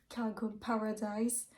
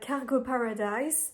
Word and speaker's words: Cargo Paradise: Concernant mes lectures, j'ai pas encore commencé Cargo Paradise. J'aime bien je le prononce à l'anglaise toujours.